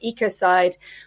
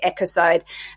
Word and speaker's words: ecocide: with homicide genocide suicide so ecocide or often as it's if if you want to take the US type pronunciation they say echoside um but effectively it's